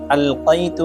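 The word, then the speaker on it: ألقيت: আয়াতটি হল alike মহাব্বা alike মহাব্বা এখানে আল কাইতু আছে আল কাইতুর ক্ষেত্রে কফ আছে এই কফকে কফ উচ্চারণ করতে হবে কফের জায়গায় যেন কাফ উচ্চারণ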